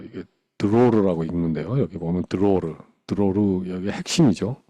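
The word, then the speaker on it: דְּרוֹר: 너희 땅에 사는 모든 백성에게 자유이이이 뭐 이게 로라고 읽는데요 여기 보면 드로르 드로르 여기 핵심이죠 즉 신년의 가장 큰 핵심적인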